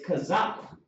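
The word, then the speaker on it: Chaazaqya: my name starts with a my name is pronounced c h a a z a q y a not a k it's kazak yeah but you know we understand all right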